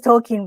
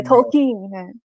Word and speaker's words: Tolkien: a screening of Tolkien, well, it's pronounced as Tolkien, by the way. Tolkien. Yeah, Tolkien.